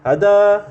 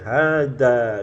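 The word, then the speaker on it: هذا: Jadi totalnya empat huruf maka enggak boleh kita bacanya hadza Ya tapi dengan dua harakat h-nya Nah makanya penting belajar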